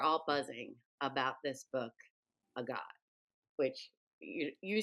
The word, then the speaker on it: Agaat: buzzing about this book, A God, which you you say it correctly. I may still say it incorrectly. Marlene has corrected me that in South Africa it's pronounced a hot.